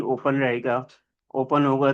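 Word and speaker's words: rho: तो this is a Greek letter. It is pronounce as रो।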